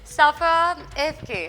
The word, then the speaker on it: Safa Evke: Safa Evke, if I'm pronouncing it correctly, is that right?